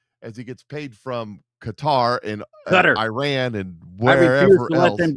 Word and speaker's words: Qatar: They decided they wanted to be called Qatar. I don't care. I'm still calling you cutter.